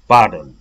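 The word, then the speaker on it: pardon: कुरा उसले रिपिट गरिदिन्छ पार्डन ओके यहाँनेरि पार्डन भनेको छैन किनभने यो र चाहिँ साइलेंट छ यहाँनेरि पनि हेर्नुहोस् त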